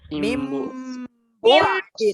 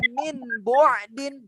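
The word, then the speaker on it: مِن بَعْدِ: Kalau kaidah tajwid ini bagaimana bacanya? Tajwid. Mim bu'din. Itu kalau tajwid. Mim. Bagaimana? Mim. Ustaznya membacanya pasti min bu'din. Ustaznya tidak akan membaca mim bu'din. Kalau ditajwidkan nun sukun bertemu dengan ba itlab, tapi ini tidak dibaca itlab saat imla. Min bu'din.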